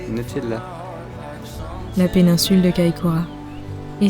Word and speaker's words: Nutella: C'est comme ça qu'on le prononce, Nutella.